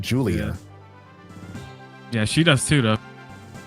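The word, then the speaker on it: Giulia: when I saw it, it's spelled G I U L I A. I also would have thought like Julia or something like that because she's Japanese, but no, they pronounce it Julia.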